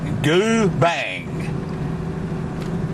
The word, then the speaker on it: Goobang: We're in Goobang National Park, pronounced Goobang, and it's off the road back there from one unpronounceable place to another unpronounceable place on the map.